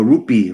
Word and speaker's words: rupee: You pronounce it rupee or roop? Roop. No, rupee, right? With the E.